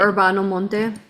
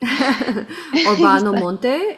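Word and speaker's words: Urbano Monte: Orbano Monte.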